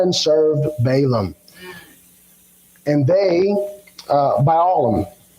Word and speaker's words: Balaam: And they, Balaam, I think I'm saying that right. Balaam, yeah, I said that right.